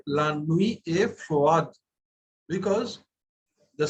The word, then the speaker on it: froid: Because see the spelling, F-R-O-I-D. Froid is F-R-O-I-D. D at the end of a word is pronounced. It is not pronounced. So we have to pronounce froid.